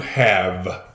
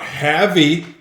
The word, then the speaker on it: have: And then believe it or not, on the word have, there's a silent E at the end. Therefore, that word is not havey.